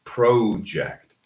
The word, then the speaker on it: project: However, I know a lot of students that pronounce project. This is a flat vowel. So we don't say pro, we say pra. Project. Okay. Not pro. We don't need pro. We just need pra.